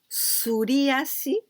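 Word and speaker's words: すり足: si and yoriyasi well suryasi and also the the the pronunciation it is not tsu not the sound of t s youtu suryasi but this is well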